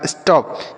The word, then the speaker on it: stop: ठीक, आगे लिखा है STOP, तो S से पढ़ेंगे आधा स, T से पढ़ेंगे ट, O का उच्चारण अ, और P से प। यह लिखा स्टॉप, मतलब क्या होता है?